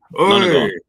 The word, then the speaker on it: Nonagon: Nonagon, is that how you say it? Exactly. Nonagon.